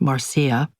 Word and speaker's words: Marsha: I accepted a resume and headsh shot from the father of my friend Marsha, which she pronounced Marcia.